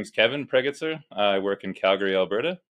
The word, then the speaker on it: Pregitzer: wife Sarah yeah so that's how you pronounce your last name yep just like it's spelled laughs awesome so get